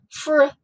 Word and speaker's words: fruit: And which vowel is long? It's the U. Fruit, fruit, fruit.